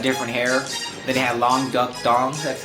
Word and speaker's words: Long Duck Dong: Then they had Long Duck Dong. That's how you pronounce.